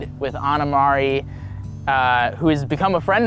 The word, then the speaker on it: Ana Mari: Yeah, well, I work with kids, and so I go Anamari, rhymes with calamari, and, what does a cow say?